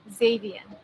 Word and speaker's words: Xavian: to say it wrong melanie turquoise it's x xavien xavier xavier exactly so i always i always